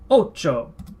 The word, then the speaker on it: ocho: Ocho. Ocho. O. Che. O. Remember, CH is pronounced as ch in Spanish.